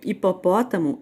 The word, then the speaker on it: hipopótamo: a letra h né quando eu falo a palavra hora hélice e helicóptero hipopótamo eu não saio não produz o som do h eu não vou falar